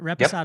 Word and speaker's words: Reposado: We've got the Blanco, we've got the Reposado. Did I say it right? We got Reposado, yep.